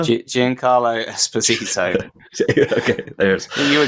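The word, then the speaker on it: Giancarlo Esposito: to pronounce his name is it Carlos and Espinosa Jan Carlo espito okay there is you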